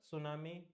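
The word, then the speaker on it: tsunami: were killed in द सुनामी wave ये सुनामी wave है टी तो स्पेलिंग उसकी टी सुनामी नहीं हाउ मेनी लीडर्स व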